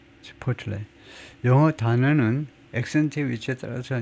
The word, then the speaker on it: Chipotle: 하여튼 have experienced 요 멕시칸 그 체인의 발음을 엉터리로 하고 지나갈 수는 없어서 저희가 찾아본 적이 있는데 치포틀레 두 번째 실러블에 액센트를 주네요. 치포틀레.